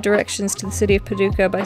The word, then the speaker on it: Paducah: Am I pronouncing that correctly, Paducah? I'm scared that I'm not pronouncing anything right in Kentucky, and Kentuckians are gonna be like, yo, put some respect on it. Paducah. Yeah, it's Paducah.